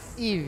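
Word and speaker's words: Yve: Eve ya berarti ya. Eve gitu.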